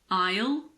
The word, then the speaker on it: Isle: many words that have a silent s some of the most common ones are Isle Bourgeois debris Island and Isle yes the first word and the last word are pronounced the same they're homophones there